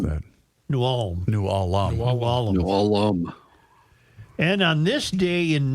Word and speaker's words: New Ulm: You mispronounced that. New Ulm. New Ulm.